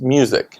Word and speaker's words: Fabian Muzik: Fabian Muzik. It's M-U-Z-I-K, but it's pronounced music.